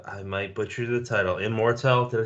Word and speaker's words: Immortelle: Brennan, you want to steer us into, I might butcher the title, Immortelle? Did I say that right? Yeah, Immortelle, yeah.